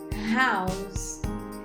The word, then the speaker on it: house: se escreve desta forma as duas começaram com h u mas a primeira o som largar é mudo our agora debaixo não House House então a gente fala a house in a house Qual que é a